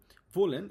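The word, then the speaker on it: wollen: ভোলেন এটা হচ্ছে ডাবলিউ যেহেতু আছে ডবলিউ আছে আমরা জানি ডবলিউ কে এর মত উচ্চারণ করি এক্ষেত্রে ভোলেন মানে হচ্ছে টু ওয়ান্ট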